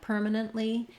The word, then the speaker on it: permanently: I mean in a word like permanently, you're not really going to hear that T coming out, permanently. I'm just going to stop the air on the T and go right into the E sound, nently.